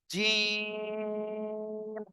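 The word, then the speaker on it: جيم: একটা নুক্তা হবে আর এই অক্ষরের নাম হলো জিম তিন আলিফ টেনে পড়তে হবে কয় আলিফ টেনে পড়বেন তিন আলিফ সবাই বলেন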